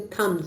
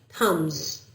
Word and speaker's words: thumbs: We say thumbs. B is silent. Hums thumbs.